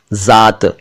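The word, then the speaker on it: ज़ात: अगला शब्द है जात। जात ना कहें, यह जात शब्द है, जात। ज के नीचे नुक्ता है यानी बिंदु है।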